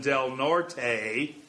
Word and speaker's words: Del Norte: usually just monty and the final vowel in del norte is seldom pronounced however these towns were